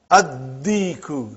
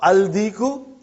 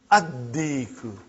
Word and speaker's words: Addiku: Addiku, not aldiku. Are you with me? Addiku.